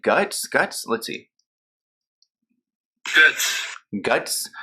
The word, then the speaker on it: Goetz: say her last name like it looks like goats but I also went to this website pronounced names and um they call her like guts guts let's see Goods